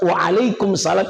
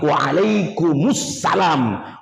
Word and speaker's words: Waalaikumussalam: sebetulnya menjawab salam itu kalau ada orang yang mengucapkan kalimat Waalaikum salam itu keliru karena tanda bacanya bukan kum salam dia tidak sukun mestinya dia dma bunyinya waalaikum alam bukan Waalaikumsalam tapi Waalaikumussalam warahmatullahi wabarakatuhul asalamualaikum warahmatullahi wabarakatuh